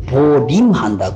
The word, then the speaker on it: 보임: 이거는 보존할 보자하고 맥길 임자 보임인데 보임인데 발음을 보림한다 그래요.